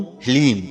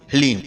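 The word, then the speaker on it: ह्लीं: ध्यान से सुनिए, ओम ह्लीम। जी हाँ मित्रों, मंत्र को एक बार आप फिर से ध्यान से सुनिए, ओम ह्लीम। इसमें हा, ला और बड़ी ई की मात्रा और अंक की बिंदी, ह्लीम। यह है माता बगलामुखी का बीज मंत्र।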